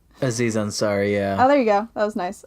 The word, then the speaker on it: Aziz Ansari: Isaiah and zari so you say his name Aziz Ansari yeah oh there you go that was nice